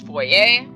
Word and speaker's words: foyer: many things I could do with it it's pronounced voy a I could say foyer this whole time but of course my team